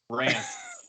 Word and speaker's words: Rance: Rance. Yeah. How do you spell that?